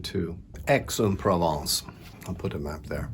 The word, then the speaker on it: Aix-en-Provence: I just checked the pronunciation too. Aix-en-Provence.